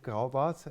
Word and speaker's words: Graubart: graubart or graubatz as we would say in the german pronunciation about the history of